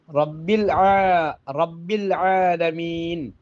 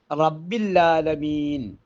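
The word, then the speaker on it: رب العالمين: അൽഹംദുലില്ലാഹി റബ്ബിൽ ആലമീൻ, അൽഹംദുലില്ലാഹി റബ്ബിൽ ആലമീൻ എന്നാണ്, റബ്ബിൽ ആലമീൻ എന്നാണ് ഉച്ചരിക്കേണ്ടത്. പക്ഷേ നമ്മളിൽ പലരും റബ്ബില്ലാലമീൻ അല്ലെങ്കിൽ റബ്ബല്ലാലമീൻ എന്ന് ഈ രണ്ട് രൂപത്തിലും ഓതുന്നത് കേൾക്കാനിടയായിട്ടുണ്ട്. റബ്ബില്ലാലമീൻ എന്ന് ഓതിയാൽ റബ്ബില്ല എന്നാണ് പറയുക.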